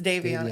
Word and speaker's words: Daviana: So Daviana. Am I saying it right? Yes, Daviana.